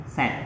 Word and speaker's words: said: Set itu bukan say tapi set. Kayak set ini, set sedih ya.